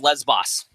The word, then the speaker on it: Lesbos: No, that's rumor, and it's pronounced Lesbos.